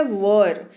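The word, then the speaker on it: were: सबसे पहले बता डन उच्चारण को लेकर के जरा सावधान हो जाइए इसको वेयर नहीं पढ़ते हैं बिल्कुल नहीं पढ़ते हैं कटाई नहीं पढ़ते हैं ठीक है इसको पढ़ते हैं वर क्या पढ़ते हैं पढ़ते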